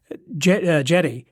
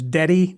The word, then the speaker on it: Djedi: episode in talking about the conjurer known as Djedi, or we might know as Dedi, D-E-D-I, but D-J-E-D-I, Djedi, who was a court,